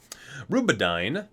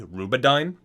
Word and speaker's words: Rubedyne: Rubedyne. I'm assuming this is how you pronounce it. It's Rube, like R-U-B-E hyphen A-D-Y-N-E. Rubedyne.